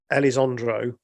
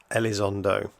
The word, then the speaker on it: Elizondo: this guy's name right for the record the pronunciation is Luis Elizondo my apologies for all